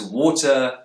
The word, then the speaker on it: water: The words water, authority, and fighting have a T in the middle. Brits will tend to pronounce a T sound here, t, but Americans will use a tap. This may sound like a short D sound, or even an R sound if you're a non-native speaker of English.